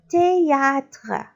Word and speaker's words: théâtre: féminin le cinéma le théâtre TH ça se prononce T A T A théâtre le théâtre répétez